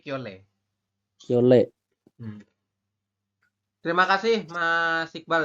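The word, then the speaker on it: 켤레: Nah, dibacanya kiole ya, bukan kiolre Ya. tapi kiole.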